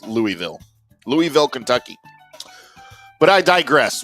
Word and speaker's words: Louisville: Is it Louisville or Louisville? feel like I've been saying Louisville because here in close to Dallas we have a suburb called Lewisville but it's spelled differently but I hear people from there say Louisville and I gag a little bit when I say it like they say Louisville. I'm not saying it like that anymore. It's Louisville.